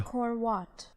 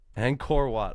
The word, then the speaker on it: Angkor Wat: How to pronounce Angkor Wat? Let's learn. Learning sesh. This is a really long intro. Angkor Wat. Angkor Wat.